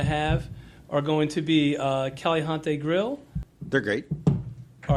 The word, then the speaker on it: Caliente: And some of the restaurants that we're going to have are going to be Caliente Grill. They're great. All right, how do I pronounce it? Caliente. Caliente. All right.